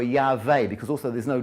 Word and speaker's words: Yahweh: Some people, it could be the two most likely options are Yehovah, because it's not Jehovah, because there's no J in Hebrew, so it's either Yehovah or Yahweh, because also there's no W.